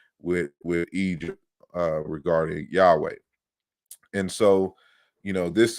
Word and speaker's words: Yahweh: that the the word yahweh or yahweh or yahuwah is more anciently pronounced yahoo or yahoo and not yahoo like the you know uh the email service but you know yahoo